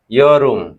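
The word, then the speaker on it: 여름: ইয়রুম। ইয়রুম। ইয়রুম অর্থ হলো কি হলো? কোরিয়ান উচ্চারণ হচ্ছে ইয়রুম।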